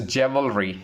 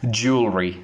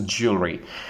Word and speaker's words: jewelry: So let's talk about the mispronunciation first. It's a jewelry. It's incorrect again. The correct pronunciation for this word will be jewelry. The right pronunciation is jewelry.